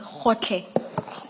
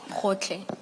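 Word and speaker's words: Gotlhe: It's Khotle. Khotle. Thank you, thank you. And maybe Ms. Hassim, it may have to be spelled for the transcript. Thank you. And that's spelled G-O-T-L-H-E. Hotle.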